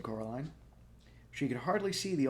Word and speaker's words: Coraline: They kept saying Coraline, not Caroline, not Caroline at all.